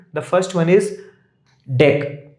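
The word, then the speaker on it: deque: The first one is deck. D E q U pronounced as deck.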